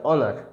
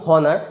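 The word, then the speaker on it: honour: কি, যে একবার বলুন হনার, একবার বলুন অনার, কোনটাতে আপনার গলাতে, আপনার জিভেতে, আপনার শ্বাসেতে কম কষ্ট হচ্ছে। অফকোর্স দেখবেন এটাতে অনারেতেই কম কষ্ট হচ্ছে, ঠিক আছে? তো কাজেই এর উচ্চারণটা কিন্তু অনার আসবে।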